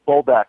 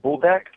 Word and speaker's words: Buldak: Now we only eat buldak soups. How do you even pronounce it? It's so bougie, I can't even pronounce it. It's buldak?